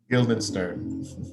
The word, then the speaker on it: Guildenstern: Okay, Rosencrantz and how do you pronounce that word? Guildenstern.